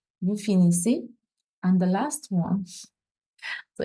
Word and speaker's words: finissez: And here, finissez. Finissez S and a sound that sounds like a sound. Finissez a sound. Vous finissez.